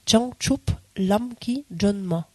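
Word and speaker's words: བྱང་ཆུབ་ལམ་གྱི་སྒྲོན་མ: avez en tibétain alors vous allez peut-être pas tout à fait pourir le prononcer parce que c'est une translitération un peu particulière mais on dit Chang chup lamki John ma en fait et changchou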